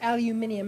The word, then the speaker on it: aluminium: that called um yeah or aluminium as the Brits say yeah aluminum ion okay easy if I give